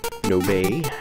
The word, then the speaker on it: Nobe: there's their second picture nobe i think is how you pronounce that i believe it's a japanese name so it wouldn't be nob no bay which that's